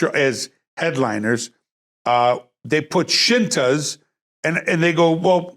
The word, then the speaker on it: Scinta: so they put the shintas and it's spelled s-c-i-n-t-a shinta plural shintas and then underneath it they put s-h i so people wouldn't go are you the skikas what how the hell